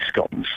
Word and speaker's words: scone: You know, you can get cheese scones. Yeah. By the way, but I'm pronouncing it scone, not scone.